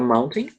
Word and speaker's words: mountain: Geralmente, americano, ele tende a pronunciar mal-in. Eles não pronunciam o T, é como se fosse mal-in.